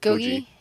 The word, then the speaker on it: Gogi: Gogi? It's gogi. So just Gogi. think of like bulgogi.